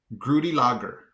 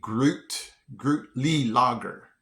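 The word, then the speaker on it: Gruetli-Laager: Grudy Lager. Wait, Grootly Lager. Groot. Okay, so yeah, it's definitely Grootly Lager.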